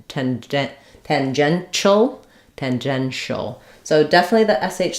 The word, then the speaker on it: tangential: some cases um but in the dictionary you'll see it's it's the this symbol for the sh sound and not this symbol for the T the CH sound tangential excuse me great question